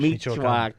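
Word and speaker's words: Michoacán: Michoacan.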